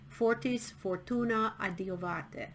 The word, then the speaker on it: Fortis Fortuna adiuvat: Fortis fortuna adiuvate. That's how you pronounce it in Latin.